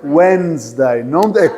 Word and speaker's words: Wednesday: O D não se lê, é mudo. Então fica Wednesday. É como se não tivesse D. Wednesday. Não tem D.